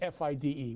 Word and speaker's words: FIDE: Most people refer to the World Chess Federation or International Chess Federation as FIDE, which is F-I-D-E. We pronounce it FIDE, which is the correct pronunciation.